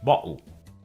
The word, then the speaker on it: bottle: And we heard the same thing before in the word bottle, which is pronounced bottle.